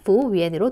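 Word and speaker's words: 服务员: 그래서 그냥 부우위엔으로 통일해 주시면 되겠습니다. 자, 다시 한번 읽어볼게요. 부우위엔. 한 번 더요. 부우위엔. 네, 여기서 YU 발음은 위 발음으로 하시면 되고요. 뒤에 AM 붙은 건 위N으로 읽으시면 되겠죠.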